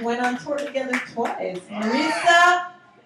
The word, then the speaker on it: Marisa: Marisa rhymes with Teresa.